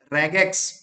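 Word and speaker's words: regex: क्योंकि मैंने फाइंड करते समय मैंने मोंगोडीबी के ऑपरेटर्स यूज किए, जिसमें मैंने रेगुलर एक्सप्रेशन, रेगेक्स, इसको प्रोनाउंसिएशन कैसे करते हैं, रेगेक्स, ठीक है ना, रेगेक्स को क्या बोलते हैं, रेगुलर एक्सप्रेशन, ठीक है ना।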